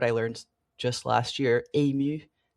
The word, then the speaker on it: ému: learned just last year, ému. E with the little slash going up to the right, accent aigu. MU, and it's like you're overwhelmed with emotion. Ému. I'm probably pronouncing it wrong, but it looks better like than emo.